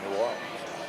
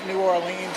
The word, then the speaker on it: New Orleans: that talks about, well, how do you say New Orleans?